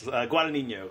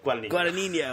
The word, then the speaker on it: Guadagnino: And Luca Guadagnino or something like that. I can't remember. Close. Guadagnino. Guadagnino. Oh, man, there's a lot of syllables in those Italian names.